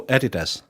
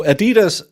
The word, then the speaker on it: Adidas: Addidas clocks you're Adidas no Adidas that's not how you say it it's a German oh is that a offbrand version no Adidas is Adidas it stands for ADI Dasa was his name and Puma was